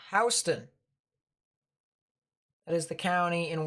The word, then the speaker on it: Houston: towards your south just by a bit it's pronounced houston that is the county in warner robins and